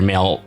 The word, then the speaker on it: Mael: chief justice male strongheart that's m-a-e-l and i'm assuming it's pronounced male like a maelstrom you know do you